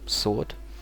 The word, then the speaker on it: sword: s o r d sword without W so we omit W and in this one we omit the B and yeah let's say uh he his sword is sharp could be